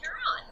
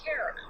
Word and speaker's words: Charon: after would be pronounced Charon. Except the astronomer who found the moon, or the planet I mean, he named it after his wife, Sharon. So he says Sharon.